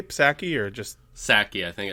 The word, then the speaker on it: Psaki: Psaki, I think it's Psaki. Is it just Psaki? I always want to say Psaki, but I guess you don't say Pfizer.